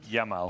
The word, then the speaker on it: Yamal: Say his name properly. Respect the is young. Is it Yamin, Lama, Yam, like whatever it is, please just know. Yamal. Okay, I'm speaking about the youngest player in the Euros currently.